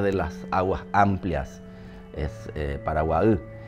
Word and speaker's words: Paraguay: El vocablo paraguay es una palabra del idioma guaraní y en realidad la pronunciación es paraguaú, porque la palabra ú significa agua, la palabra guá es lugar.